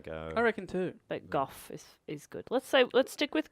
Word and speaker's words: Gogh: So his real name is Vincent Van Gogh, like a k sound at the end. But then no one says that in English. So more people say Gough than Go. So I think Gough is more correct.